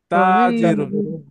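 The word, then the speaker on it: تاجرٌ: কথা বলতে অবশ্যই বলেন এখানে ওই যে আমরা ত জবর ত উচ্চারণ করি তো এখানে তা হবে জি এটা তো তা জব তা হবে এটা ওপেন হবে আর ত টা এটা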